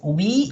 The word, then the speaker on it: oui: a written but uh why a pronunciation or pronounced way it's we it means yes yeah yeah pretty much yeah